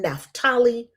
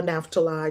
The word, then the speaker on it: Naphtali: and Benjamin, Dan and Naphtali, or Naphtali, depending on how you pronounce it. I've heard Jewish people say Naphtali, and in the Black church, we say Naphtali.